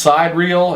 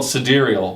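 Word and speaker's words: sidereal: and it's not it's it looks like it's pronounced side reel and when I you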